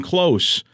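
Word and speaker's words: Kloos: Justin Close or Justin Close. Wh how is it really supposed to be? He pronounces it Justin Close, but of course, this being hockey, his nickname is the closer.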